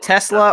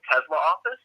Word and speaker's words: Tesla: Tesla, yeah. Is it Tesla or Tesla? Tesla. Tesla. So you're saying it rhymes with Pez-da.